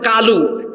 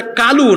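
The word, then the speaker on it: قالوا: আবার বলতেছে কালু, অথচ আরবিতে 7টা অক্ষর মোটা হয়, মোটা হয় না? এর মধ্যে একটা অক্ষর হলো কফ, এটা কালু না, এটা হলো কি কলু।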